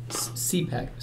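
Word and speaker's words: Cepek: cool cars so so Bart C pack yes that's how you say the last name I always never know how to say it right but CEP EK yeah yes eat see pecks yeah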